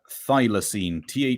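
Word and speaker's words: Thylacine: the artist and album one more time uh thilosene thy l a c i n e I'm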